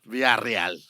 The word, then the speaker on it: Villarreal: Villarreal. And then you roll your R's in the middle of it. Villarreal.